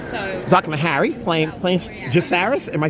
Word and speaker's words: Jacaerys: So Talking to Harry, playing Jacaerys. Am I saying it right? Jacaerys, yeah.